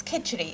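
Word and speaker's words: khichdi: your mum used to make this uh and pronounce it for me please it's kitchery excuse me it's a simple dish it's like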